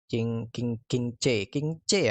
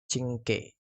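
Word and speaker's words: Qingque: Oke, di bannernya si Locha, Alisoto, itu Pelak, King C ya, cara bacanya tuh Cingke.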